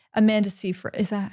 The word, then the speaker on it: Seyfried: Where it's completely different to someone like who's wide set that has like Amanda Seyfried. Is that how you say it? Amanda Seyfried, yeah.